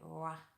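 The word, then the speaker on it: roi: So in French, it's almost like you would say R-W-A, Ra, Ra.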